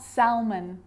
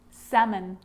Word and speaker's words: salmon: knee knock not knowledge the letter l can be silent too and it's quite common